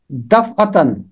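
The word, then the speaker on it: دفعتاً: اس کا تلفظ ہے دفعتن، دفعتن جیسے ہے نا دفع، اور آگے تے ہے اوپر تنوین ہے تو اس کو پڑھا جائے گا دفعتن، دفعتن۔ بائبل میں یہ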